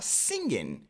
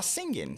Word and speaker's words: singing: Une fois que ça c'est bon, ensuite on a singen. On ne va pas prononcer le G à la fin du mot, on dira singen tout simplement.